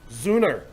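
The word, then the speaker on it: Sünner: she'll what we're drinking is it sooner sooner but it's spelled sonner yes its spell su n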